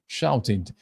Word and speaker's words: shouted: it was they shouted এখানটাতে shouted না হয় উচ্চারণটা হয়ে যাচ্ছে did যখন একটা ওয়ার্ড টি অথবা ডি দিয়ে শেষ হয় অথবা সাউন্ড দিয়ে শেষ হয় এরপরে ইড যোগ হলে উচ্চারণটা ইড হয়ে যায় এটাকে আমরা হচ্ছে ইনফ্লেকশন